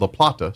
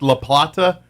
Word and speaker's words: La Plata: I think La Plata and what you hear here is the true way it's supposed to be said, because it's probably a Spanish origin word to begin with.